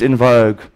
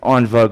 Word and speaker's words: en vogue: This is what you will hear within the greater mainstream church teaching, and it's in vogue, or the correct pronunciation, en vogue, it's a French word.